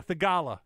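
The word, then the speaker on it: Theegala: Oh, Thigala? Yeah, Thigala.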